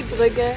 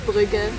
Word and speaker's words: Brügge: We just say Brügge. In German it's Brügge. So let's- let's stick with that.